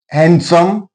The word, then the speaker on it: handsome: Handsome D silent here.